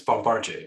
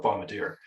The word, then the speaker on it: Bombardier: Canadian company is because it is part of Bombardier, which is a famous Canadian company. Is it Bombardier or Bombardier? Oh yeah, pardon me. It's Bombardier. I'm from Manitoba, so we still call it Bombardier.